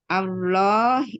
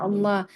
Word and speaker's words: Allah: lafaznya Allah. Hanya di sini dibacanya tafkhim atau tarkik. Kita lihat di huruf sebelumnya. Jadi di sini Dibaca tebal ya tafkhim.